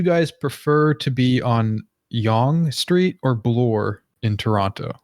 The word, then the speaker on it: Yonge: them correctly now yeah Yonge Street Yonge Street that's yeah y ou n je or GE yeah just just Yonge Street yeah like like young person yeah what's the significance